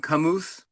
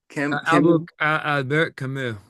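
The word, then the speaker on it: Camus: Am I saying his name wrong? Kamoose Kamu.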